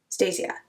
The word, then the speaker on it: Stasia: I love Stasia. I always say her name wrong. I don't know why. Just doing the end of Anastasia. Stasia.